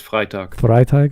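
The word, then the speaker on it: Freytag: pyramid Freight thank you I thought I said frga I don't know why no it's it's pronounced frag frag okay frag thank you thank you um but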